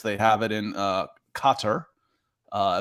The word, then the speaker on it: Qatar: have it in uh Qatar uh as they pronounce it when you're over there Qatar um because FIFA is